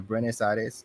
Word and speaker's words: Buenos Aires: So our last question for rapid fire: if we went to travel to Buenos Aires, is that how you pronounce it? The capital, Buenos Buenos Buenos Aires.